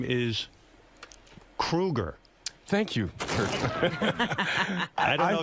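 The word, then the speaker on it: Kroeger: And Chad, you know, your last name is Kruger. Thank you. I don't know I've if been you know pronouncing that.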